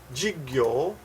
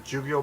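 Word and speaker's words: 授業: Jigyo. Jigyo. Jigyo is... Jigyo. Jigyo is... technical pronunciation jugyo, but most people say jigyo.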